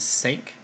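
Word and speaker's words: cinq: have five which is sake kind of pronounced like the American word sank which is why I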